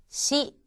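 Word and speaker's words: し: 우선 사행에 들어가는 5개의 글자는 사, 시, 스, 세, 소였고 이 중에서 시라고 하는 것은 여러분들께서 너무 시 하는 식으로 강하게 발음하지 마시고 시원하다 할 때 시와 비슷한 발음을 하시면 되겠습니다. 다음은 오늘 익히실 5개의 글자가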